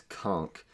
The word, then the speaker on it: Conk: His name is, rhymes with Ronk, and it's Conk.